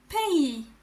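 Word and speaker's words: pays: It said pay.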